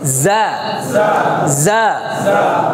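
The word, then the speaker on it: ز: জাটা একটু জিম এবং জালের মাঝামাঝি, জিমটা শক্ত জালটা নরম, জিমটা শক্ত জালটা নরম, আর যা হচ্ছে মাঝামাঝি যা যা। জিহ্বার আগা থেকে নিচের দাঁতের সাথে লাগাবেন যা। ঝিঝি পোকা আছে না, ঝিঝি পোকা যেরকম আওয়াজ করে এরকম একটা আওয়াজ হবে যা যা।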